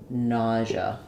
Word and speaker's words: nausea: it um and then you can say it as n or just na most people uh will just reduce it to the schah sound so it sounds like n nausea um but then when